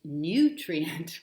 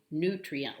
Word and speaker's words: nutrient: nutrient their pronunciation is nutrient with a little y stuck in there and that's acceptable but the preferred pronunciations that i could find were actually nutrient like any w rather